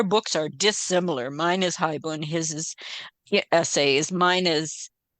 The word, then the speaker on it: haibun: How do you pronounce it? Haibun. Haibun. Okay. Haibun.